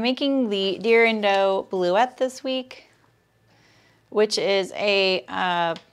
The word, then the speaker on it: Bleuet: Oh, yeah, because the last letter is silent. You're right. It doesn't have a double T-E. Thank you, Allison. Bleuet.